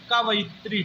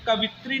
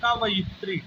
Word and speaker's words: कवयित्री: जो स्त्री कविता लिखती हो तो उसको कहते हैं कवयित्री। ठीक है। ये कवित्री नहीं होता है, कवित्री हमारे बोलचाल की भाषा में होता है। इसका जो शुद्ध उच्चारण होगा वो होगा कवयित्री।